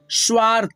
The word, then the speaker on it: स्वार्थ: तो यहाँ पे देखिए पढ़ेंगे आधा स, वा और थ पे रेफ की मात्रा जब लगा है तो थ से पहले आधा र का उच्चारण आएगा। स्वार्थ, स्वार्थ।